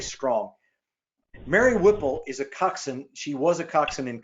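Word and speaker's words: coxswain: about crew Mary Whipple is what's called a coxen it doesn't pronounce like it looks She's a coxen it translates literally to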